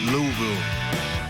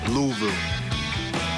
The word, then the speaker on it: Louisville: It is Louisville. Louisville.